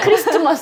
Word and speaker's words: Christmas: The T is silent, right? Christmas!